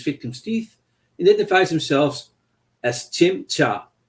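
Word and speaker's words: Tzim-Sha: implanted with his victim's teeth identifies himself as Chim cha mispronounced as sha by the doctor of the stenza Warrior Race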